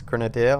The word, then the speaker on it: grenadier: can accept um uh Grenadier which I was pronouncing wrong I was saying grenader it's grenader I've been informed and an engineer which